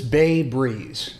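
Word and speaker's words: Bae Breeze: This is Bay Breeze, which is spelled B-A-E Breeze.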